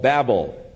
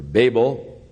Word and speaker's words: Babel: therefore its name was called Babel or Babel whichever pronunciation you prefer it really is a